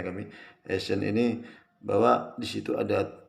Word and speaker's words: Eysenck: Jadi kalau kita kaitkan dengan teori Eysenck, bacanya kami Eysenck ini, bahwa di situ ada tipe kepribadian stable, unstable, atau extrovert, introvert.